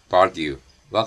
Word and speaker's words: vague: 이 표현을 이제까지 보고 말해왔던 습관에 의해 발음을 생각한다면 보통 Vague와 같이 발음을 합니다.